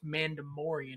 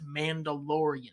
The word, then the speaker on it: Mandalorian: the boost first off it's not pronounced mandamorian it's mandalorian second off it's boba fett i don't give a how do we pronounce it who is it it's pronounced the mandalorian no it's a landing